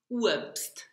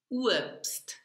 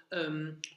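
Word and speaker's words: Uebst: Okay, so you slide from U to a W, and the B here is pronounced like a P, P, like a P, so whip.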